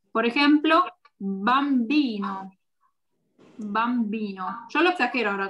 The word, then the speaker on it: bambino: Tiene que escucharse bambino. No bambino, bambino. ¿Ok? Fuerte. Esa es la única diferencia. Si tienen un apellido o nombre con B larga, acuérdense de pronunciarla fuerte.